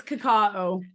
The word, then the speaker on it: cacao: or cacao say it how do you say it it's cacao yeah it's yeah so